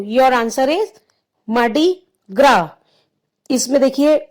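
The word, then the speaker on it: Mardi Gras: So your answer is मार्डी ग्रा। इसमें देखिए स्पेलिंग में ग्रास है, GRAS। सो in this spelling S is silent. We will pronounce मार्डी ग्रा।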